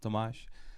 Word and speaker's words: Tomáš: I'm this guys correctly and nicely said, Tomáš. And my last name for absolutely insane pronunciation, Sršeň is my last name, which is called like Hornet.